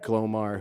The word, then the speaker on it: Glomar: JEFF LARSON: Glomar is G-L-O-M-A-R. ROBERT: Glomar. JULIA: What did you think just of the word? JEFF LARSON: I thought it was—I thought it was some lawyer named Glomar who had argued—successfully argued the case, because it